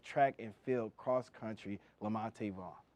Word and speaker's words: Lamonte: Of course, please joining me is welcoming head coach of track and field cross country, Lamonte Vaughn. Lamont Vaughn. It's spelled Lamonte, you know.